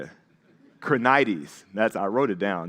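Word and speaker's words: Krenides: Crrenitus. That's what I said. Uh, that's not even how you say it. Krenites.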